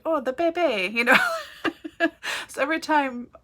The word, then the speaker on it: Bebe: but her name is Bebe. B-E with an emphasis, B-E-E with an emphasis on the first E.